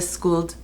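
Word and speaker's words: Skuld: and this is schooled i do not purport to know how to pronounce things in swedish or norse but from what i've seen this is the school palette and i learned that from angeliconiqvist who is swedish so this is the skooled palette they're all beautiful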